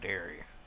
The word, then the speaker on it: Derry: We got Derry. I think it's spelled with an E, D-E-R-R-Y. It's not dairy like milk.